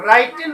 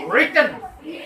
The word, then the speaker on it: written: এটো arrive right wrote এই যে এটো রাইটেন উচ্চারণ নকৰিবা কিন্তু এটো কি কৰিবা written কোৱাচোন written writing right meet মানে